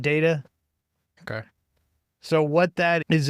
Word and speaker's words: DAITA: or I don't know how do you pronounce the acronym? It's DAITA. I would call it data.